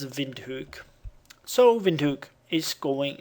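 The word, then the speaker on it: Windhoek: it and it shouldn't be all that hard vind hook vind hook okay so it's vind hook so vind hook is going away this route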